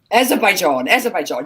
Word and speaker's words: Azerbaijan: Emirates, and then I always say this country's name wrong. Maybe you'll say it for me. Azerbaijan.